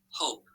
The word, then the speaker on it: hope: and we cross off the e because it's silent but it has to be there because it makes the vowel long okay great job all right so you'll remember when you go from closed syllable hop to that e on the end makes it say hope okay so there's lots